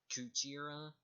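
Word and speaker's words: クジラ: For gorilla, it's pronounced as Gorira, and for whale, it's pronounced Kujira.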